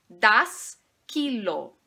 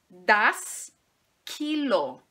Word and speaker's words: Kilo: Em relação à pronúncia, nós vamos enfatizar a primeira sílaba desta palavra. Então, vai ficar das Kilo, das Kilo, das Kilo.